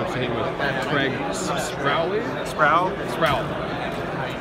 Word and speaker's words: Sproule: Sproule. The E is silent.